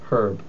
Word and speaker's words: herb: step number five is observe that H is always pronounced the H is pronounced in the word her herb uh well I already